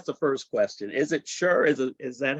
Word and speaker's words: Scher: Is it Scher? Is that how you pronounce it? Well, actually, it's more like Sonny and Cher for anyone that would remember or remembers the singer.